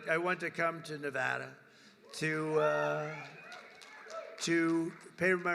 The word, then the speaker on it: Nevada: want to come to a state known as Nevada has anyone ever heard of it and don't ever mispronounce the name you're not allowed to do